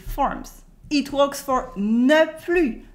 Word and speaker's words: plus: Here you can notice when you heard me say it that the S at the end of plus is silent because this is not anymore.